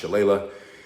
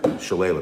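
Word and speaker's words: Shillelagh: years I really appreciate Doug this is Doug's shalele or as my Irish father-in-law uh said to me it's actually pronounced Chala this is made in County Wicklow which is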